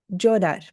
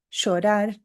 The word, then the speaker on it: llorar: Então, hoje, nas minhas aulas, eu pronuncio assim, ó, llamar, llave. Ou outra palavra como exemplo, llorar. Llamar, llave, llorar. Se você for para Buenos Aires ou para o Uruguai, você vai ouvir a pronúncia diferente. Você vai ouvir assim, ó, chamar, chave, chorar.